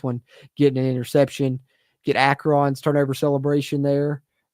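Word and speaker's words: Akron: Get Acron's turnover celebration there. Akran, I guess, is the proper pronunciation as people pointed out to me in the comments.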